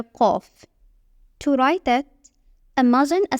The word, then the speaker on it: ق: Qaf is like the deep, mysterious cousin of Fa. It is pronounced from the back of the throat, giving it a rich, emphatic sound that's somewhere between K and Q.